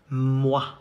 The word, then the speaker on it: moi: The two letters O and I combined make the sound wa, moi.